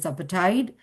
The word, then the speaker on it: apartheid: Similarly, apartheid, it is apartheid.